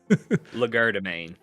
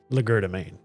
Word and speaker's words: legerdemain: And how do you pronounce the L one? Legerdemain. Legerdemain.